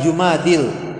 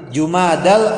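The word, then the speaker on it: جمادى: pada bulan Jumadil Akhir Oh ingat cara membacanya cuma ada bukan Jumadil jumadal Akhir Oh risalah Fi layaalil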